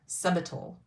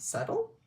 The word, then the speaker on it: subtle: day and i said subtle he goes oh is that how you say it it's like yeah he goes the b is silent like yeah so subital